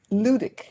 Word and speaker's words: ludic: Ludic. Nubic. How do you spell that? Ludic. Ludic. The L. How do you spell it? Sounds erotic. L U D I C.